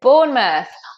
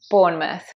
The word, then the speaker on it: Bournemouth: Number seven, the place where I grew up and went to school is Bournemouth.